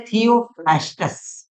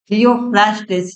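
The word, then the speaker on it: Theophrastus: जो है वह है थियोफ्रास्टस। थियोफ्रास्टस या थियोफ्रास्ट, जो आपका प्रोनाउंसिएशन है उसका आप यूज करिए।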